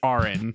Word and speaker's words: Auron: How do I pronounce this name again? Do not cut this. Do not cut this moment. It's Auron.